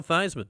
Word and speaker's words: Theismann: You can go hang out with Joe Theismann, which I've heard rhymes with Heisman.